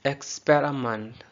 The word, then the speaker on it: experiment: Next, experiment. Experiment. इसमें आई और ई श्वा है.